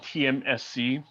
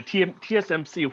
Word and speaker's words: TSMC: The company is called TMSC. It's if I get sometimes I pronounce it incorrectly. Yeah, TSMC, which is the Taiwan Semiconductor Manufacturing Company, in short.